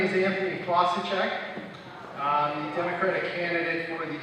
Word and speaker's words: Fossaceca: good morning good afternoon my name is Anthony klosacek um Democratic candidate for the sixth house district